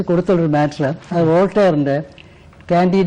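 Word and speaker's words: Candide: ഒരു മാറ്റർ അത് വോൾട്ടയറിന്റെ കാൻഡി എന്നാണ് ഉച്ചാരണം കാൻഡി എന്ന് ചിലർ പറയും കാൻഡി എന്ന് പറഞ്ഞാൽ ഫ്രഞ്ച് ഉച്ചാരണമാണ് ആ നോവൽ ഇങ്ങനെ പരിധി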